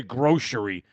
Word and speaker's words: grocery: Somebody say grocery. There's no SH in a C sound.